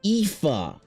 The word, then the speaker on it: Aoife: Why is this spelled Aoife? I don't know. It's some fucking Gaelic shit or whatever. Because I was like, oh, you want to name your character Aoife? Okay, Aoife. And she's like, no, it's spelled A-I-F-E.